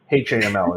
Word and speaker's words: HAML: So Oh, we is get looking- it's a Hamel template, or I don't know if you say. Yeah. I think it's Hamel. Hey, it's British actually. Say HAML. HAML is actually what you say now.